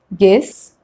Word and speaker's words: guess: is silent letter u u is not pronounced when it comes after g and before a vowel like in these examples guess guest guild guilty guitar